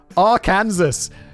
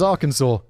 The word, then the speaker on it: Arkansas: Arkansas, as I thought it was pronounced for the first 2.5 decades of my life. But actually, Arkansas. Epperson versus Arkansas.